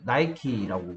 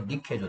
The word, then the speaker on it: 니케: 그래서 나이키라고, 우리는 나이키라고 읽는데, 그게 아니고 니케죠.